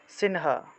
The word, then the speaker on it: সিংহ: তাহলে উচ্চারণটা হবে সিংহ অনুস্বার শব্দের মাঝখানে থাকায় ন এর মত উচ্চারণ তাহলে সিংহ সিনহা এভাবে উচ্চারণটা আসবে কেমন এখানে আমি দিয়ে